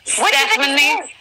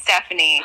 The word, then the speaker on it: Stefania: Do people butcher your name? Yeah. Really? Stefania. Stefania. Stefania. I could see people saying Stephanie because they are stupid and say it.